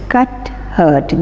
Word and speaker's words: Cuthbert: She is saying, wait aunt, it would be terrible if people got to know that Cuthbert is Cuthbert, B is silent, Cuthbert is involved in something like this.